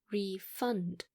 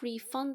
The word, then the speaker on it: refund: When we use it as a verb, we would say refund. Can you refund the money to me? But when it is a noun, we would say refund, just like get a refund.